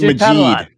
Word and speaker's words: Majid: So without any further ado, let's bring on Majid Padelan is his real name. Okay. But I got it wrong, didn't I? Yeah. Sorry, I can tell by looking at the face. It's Majid.